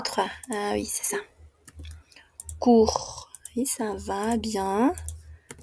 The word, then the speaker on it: court: Court. Court. Oui, ça va, court. Oui, c'est comme ça. Court. Aunque tengamos una TS ahí, no se pronuncia, ¿ok?